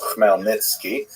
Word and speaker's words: Khmelnytsky: It's actually pronounced Khmelnytsky, with a guttural at the beginning.